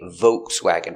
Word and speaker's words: Volkswagen: And some people say Volkswagen with no L, just V. Volkswagen. Both are correct.